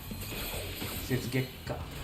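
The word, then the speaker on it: Setsugekka: Setsugeka. Gekka. That's how it's meant to be pronounced at least.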